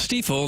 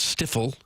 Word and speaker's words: Stiefel: Hopefully by now you know it's pronounced Stiefel, not Stiffle. Stiefel.